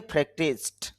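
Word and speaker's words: practiced: প্র্যাকটিস থেকে প্র্যাকটিসড, এরকম উচ্চারণ হবে। অনেকে এগুলো আবার ড উচ্চারণ করে, এটা ড উচ্চারণ হবে না, এগুলো ট উচ্চারণ হবে।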